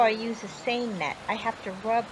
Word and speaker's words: seine: One is called a seine net. It rhymes with strain, and I know you know what strain means. When you make pasta, you strain out all the water. So this is a seine net, and it does